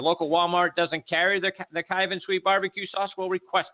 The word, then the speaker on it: Kyvan: their website at cabin 82 dot-com and kyvan is spelled k Y VA n and if your local Walmart doesn't carry their cake Ivan sweet barbecue sauce will request it I'm sure